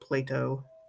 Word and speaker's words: Plato: i said right here you pronounce it plato like play dough but with a t um and i gotta